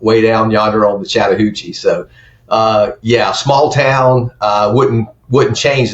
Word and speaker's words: Chattahoochee: You are born and raised in Chattahoochee. And did I pronounce it correctly?